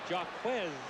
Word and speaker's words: Jaquez: That is Jaquez, he informed us yesterday, not the French pronunciation of Jaquez.